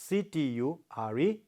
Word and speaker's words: architecture: architecture. Architecture. See, stress falls on the first syllable.